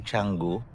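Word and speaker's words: Canggu: And then by the way, little trivia dito sa place natin sa Changu. Ah yun na nga ang spelling is Kango pero they pronounce it changu.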